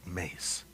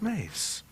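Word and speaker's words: Myss: challenge with her name it's m-y-s-s i think she pronounces mace i know but i but she would say that's not how you say my name she says mace it's her name it's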